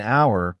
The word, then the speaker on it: hour: For example, an hour, because the H is silent, so the word starts with a vowel sound.